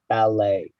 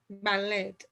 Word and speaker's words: ballet: And we pronounce this the way the French do, so the T is silent, ballet. Ballet.